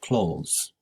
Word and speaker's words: clothes: clothes in her closet please pay attention to the pronunciation of clothes it's very similar to close the door phenomenon plural phenomena don't